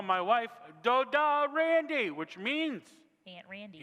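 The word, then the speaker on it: דודה: Doda.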